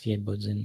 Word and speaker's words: Świebodzin: It's a S, I guess it's Świebodzin, but you basically read it right. It's SWIE, right? Yeah. Okay. Like a little thing on top of the S. I can kind of see it. The accent on the S.